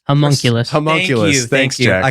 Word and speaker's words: homunculus: It's like humanoculus. Homunculus.